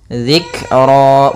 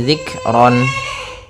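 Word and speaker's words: ذكرا: Dzikra, bukan lagi zikron.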